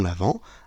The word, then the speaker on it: Avent: à cause de l'homonymie l'avant et avant ça se prononce pareil mais ça ne s'écrit pas pareil avant Noël a V a S mais nous nous fêtons l'avant a V e n t donc nous vivons l'attente